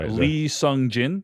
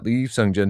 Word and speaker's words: Lee Sung-jin: Lee Sung-jin? Lee Sung-jin.